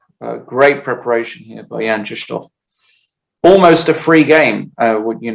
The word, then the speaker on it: Krzysztof: And it is Krzysztof, just so you know. I know we say Christoph, like I said, but I have it on good authority that you pronounce it Krzysztof.